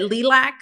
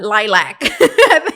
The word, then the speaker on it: lilac: Le I forgot what I think I said leac and then he said uh lilac yeah I think he's like no it's lilac and I'm like it's